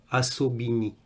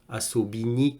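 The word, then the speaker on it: особый: le prononce assaut béni avec comme un a au début mais ça s'écrit avec un O mais faut pas oublier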